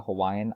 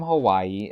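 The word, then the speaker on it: Hawaiʻi: describe it is that it sounds like a slight pause or hesitation both spellings are correct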